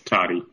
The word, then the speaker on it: Toddy: Commissioner Toddy? Or Toddy? Here. Will you correct my pronunciation of that? It's Toddy.